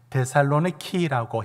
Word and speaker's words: 데살로니키: 오늘은 데살로니카로 왔습니다.이 데살로니카는 지금도 그리스에 데살로니키라고 해서 발음이 키에 가까운 발음으로 그리스 발음에 가깝도록 달려졌을 뿐이고 바로 그 지명 그대로 데살로니가입니다.